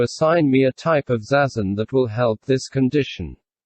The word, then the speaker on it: zazen: as the book progresses pronounced zazen each syllable is accented equally for a discussion of